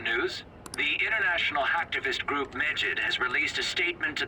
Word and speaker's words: Medjed: The international hacktivist group Medjed has released a statement to the Phantom Thieves. Well, that's how you pronounce it. Medjed. I thought it was Medjed, not like... It almost sounds like the word midget.